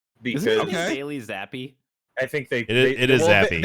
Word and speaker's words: Zappe: I'm pretty sure that's an Italian name, and so technically his Zappe. name would be like it's like Zappe. Zappe.